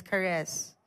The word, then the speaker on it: charis: from the Greek word charis. Mmm my name siguro na no dapat yeah ingon ako English teacher dapat daw ang pronunciation sa akong name is cares.